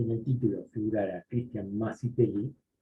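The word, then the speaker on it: Mazetelli: Yo me llamo Cristian Macetelli. ¿Sí? Yo me llamo Cristian Macetelli. Mi apellido se escribe M-A-Z-E-T-E-L-L. Todo el mundo me dice Macetelli.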